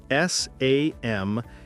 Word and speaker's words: Samhain: Halloween started more than 2,000 years ago in an ancient Celtic festival called Samhain, spelled S-A-M-H-A-I-N and pronounced Samhain.